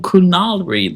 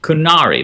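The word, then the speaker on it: Qunari: Um, at least there's perhaps some cool kunali lore. Um, that I can't pronounce kunari. Kunari. There we go.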